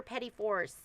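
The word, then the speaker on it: petit fours: Oh, so this is the kit for petty fours now that I know how to say it.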